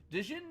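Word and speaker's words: Djinni: to blow through this dein of zeph or Jin of zeph depending on how you pronounce it and whether or not you're from America all right five Mana for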